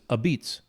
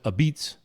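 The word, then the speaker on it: apizza: moderns and Sally's and it's not pizza it's a beats a and if you look at the sign it's a pizza and they pronounce it a beats oh huh and these old now is Italians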